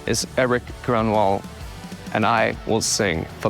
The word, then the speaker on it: Grönwall: Grönwall.